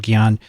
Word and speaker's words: Gian: the individual writes i'm gion gi as in gibbon i-a-n-n as in martian it's two syllables from the philippines i